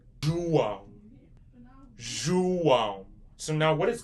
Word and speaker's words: João: You're going to say João.